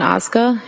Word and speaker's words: Ozga: Tell us your name, please, and spell it. It's Ozga.